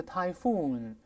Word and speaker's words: typhoon: 英语中叫 typhoon。注意重音在后面哦。